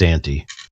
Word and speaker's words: ante: It's spelled EX space. Hold on. EX space ANTE. Ante. Yeah, ante, like antecedent, before, precedent, coming first.